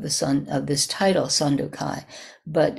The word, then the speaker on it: Sandokai: The Sandokai, that's the Japanese pronunciation, but it's not a bad approximation of the Chinese.